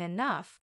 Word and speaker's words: enough: day I'll even understand why G can sound like f in enough the mysteries of English